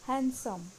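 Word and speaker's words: handsome: Next is हैंडसम, ये हम गलत प्रोनाउंस करते हैं, इसमें हम डी को साइलेंट रखेंगे और इसका सही प्रोनाउंसिएशन होगा हैंडसम, हैंडसम।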